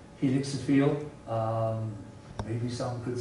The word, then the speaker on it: helixophile: I pronounce it helixophile.